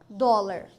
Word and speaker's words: dólar: hum Pense um pouquinho que tal dólar dó Lar Olha só dlar ou seja paroxítona terminada em R E qual é o